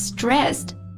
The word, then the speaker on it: stressed: s e d so I know that it's really strange to pronounce Ed as a t sound but that's a really common feature of English pronunciation yeah yeah well this happens when the consonant before Ed is an unvoiced sound and the s s